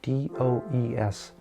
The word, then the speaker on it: DOES: acronym and these are D O E S which is sometimes pronounced does.